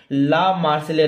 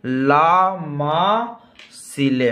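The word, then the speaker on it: La Marseillaise: था मेरे प्यारे बाबू ला मार्सिले नाम था। क्या था? ला मासिले। अह मार्सिले ऐसे। हां, सही है।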